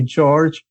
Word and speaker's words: Jorge: And then I spent 1 year teaching everyone, no, it's actually George. Yeah. Because they had heard my name before I was hired, and then they hired the Mexican guy whose name was Jorge, so spelled the same way but pronounced in a different way, and then it was very confusing.